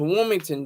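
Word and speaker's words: Wilmington: to the dupal hotel I don't say the T anymore everybody says the T but I'm I'm not gonna say the T I'm not GNA pronounce the T um Rick James says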